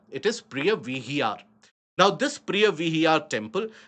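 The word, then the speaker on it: Preah Vihear: or pronounced it as Priya Vihar. But then we choose the local pronunciation here. It is Priya Vihar.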